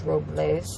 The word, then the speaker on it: Robles: the correct pronunciation is Robles but they call it locals whatever I hope it's